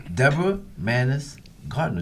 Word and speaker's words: Deborah Mannis-Gardner: Deborah Mannis-Gardner. Did I say that right? You said it right. Deborah Mannis-Gardner.